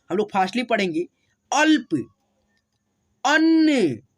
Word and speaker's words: अन्न: लोग फास्टली पढ़ेंगे, अल्प, अन्न, ठीक है, अ न न अन नहीं पढ़ेंगे, अन्न, न में न जुटा हुआ है तो न के साथ न का उच्चारण करेंगे, अन्न।